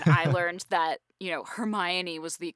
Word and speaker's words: Hermione: and obnoxious nine-year-old I learned that you know Hermione was the correct way to pronounce it and everybody else was calling her Hermia and I was like no she's mine yeah